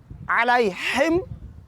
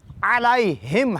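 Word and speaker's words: عليهم: اگر کوئی یوں پڑھے علیہم تو یہ لفظ سورہ الحمد کا شمار نہیں ہوگا اور یہ غلط ہو جائے گا. تو صحیح اس کا تلفظ علیہم ہے، بھاری پڑھنا ہے نہ کہ رقیق اور پتلا کر کے پڑھنا ہے.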